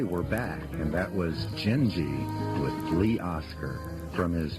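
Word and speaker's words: Gindi: Ladies and gentlemen, Gingi, pronounced G I N G E, but spelled G I N D I.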